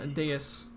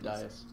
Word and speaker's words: dais: In the middle here, it looks some sort of like a dais. Some sort of what? Dais, is that how it's pronounced? Oh, Yeah. D-A-I-S. Yeah. I said dias.